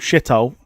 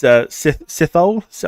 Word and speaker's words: Sithole: Otherwise, you got a guy there called Shithole. it's Sithole. I think it's something like that. Sith. You have to pronounce it like an F.